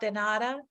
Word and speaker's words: de nada: So it's the D, the E, de, because our E's sound like A's, and then nada. De nada.